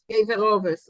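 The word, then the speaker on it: קבר אבות: Kever Avos. How do you pronounce it? Kever Ovis.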